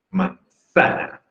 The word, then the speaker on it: manzana: Manzana. Sí, definitivamente es grave.